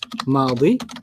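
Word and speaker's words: ماضي: Past is madi. Madi. Like Maddie. Madi.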